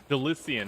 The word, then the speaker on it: Delysian: Delissian. I was right. Delissia. Delissio. To put it on. My pronunciation was correct.